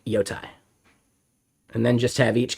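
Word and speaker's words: Jotai: Yes, Yotai is massively different, and it's spelled with a J. So Yotai is all about atomic state.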